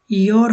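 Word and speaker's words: gör: যে এখানে দেখেন, এখানে হবে ইয়ার, এটা গোর হবে না, কিন্তু এখানে আবার ইয়োর হবে না, এটা হবে গোর।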